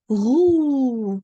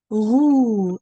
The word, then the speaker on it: roux: Roux. Look, the X, you don't pronounce that X. It's roux.